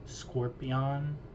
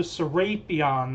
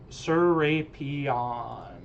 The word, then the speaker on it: Serapion: I'm pretty sure it's Serpion. Sorapion. Serapion. It's the letter to Serapion. That's how you pronounce it. Serapion.